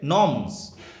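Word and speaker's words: gnomes: এরপর হচ্ছে নর্মস, জি দিয়ে যদিও বানানটা নর্মস, জিটা সাইলেন্ট থাকে।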